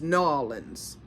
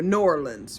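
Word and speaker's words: Norland: No, they're they're pronounced N O R L A N Ds. It it sounds like I'm saying New Orleans, but it's New Orleans or New Orleans rather.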